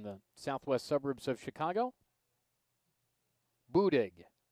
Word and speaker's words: Buddig: southwest suburbs of chicago boudig b-u-d-i-g found the pronunciation of it in their guide oh and won the